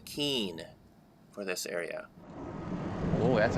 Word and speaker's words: Keene: am again at the Kinney jumps and they're actually a little more done on this trip I learned that the correct pronunciation is Keen for this area oh